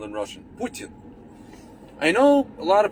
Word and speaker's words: Putin: uh putin putin or i'm gonna pronounce it correct with putin i know it's hard for you guys you guys are americans you know linguistically challenged people putin p-o-o-t-i-n but the t is like soft we have a soft